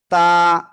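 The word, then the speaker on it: ت: জিহ্বার আগা সামনের উপরের দুই দাঁতের গোড়ার সাথে লাগিয়ে সিম্পল উচ্চারণ। তা তা এভাবে উচ্চারণ হবে।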